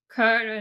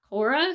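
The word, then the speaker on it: Köre: His handles on social media are usually Kore, not Cora, so I'm imagining it's pronounced similar to that.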